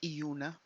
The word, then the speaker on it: iluna: the band was uh is pronounced as euna so instead of an L you pronounce it as a y let me know if